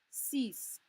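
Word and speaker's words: six: after that we'll add cease cease yes they are spelled the same but no they are not pronounced the same cease set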